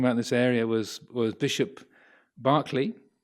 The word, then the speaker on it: Berkeley: So one of the philosophers that was sort of active talking about this area was Bishop Berkeley, pronounced Berkeley in America. So the Berkeley in California is named after him.